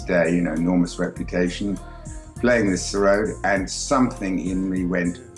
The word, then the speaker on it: sarod: discovered a new instrument, and I hope I'm pronouncing it correctly, is sarod? That's right, the sarod.